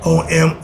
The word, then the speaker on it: Om: It can be spelled with O-M or A-M.